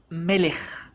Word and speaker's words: melech: it's pronounced as ha another example will be the word king in arabic it's malik the last letter is the kaf malik in hebrew it's the same but it's pronounced differently so it's pronounced as melech malek in arabic and